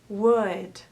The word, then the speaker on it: would: So first of all, remember that we don't pronounce the L. Should, could, would.